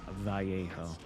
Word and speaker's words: Vallejo: seeing it now or Vallejo maybe but it's Spanish in the the two L's are pronounced like a y in Spanish so it's vjo what does vjo mean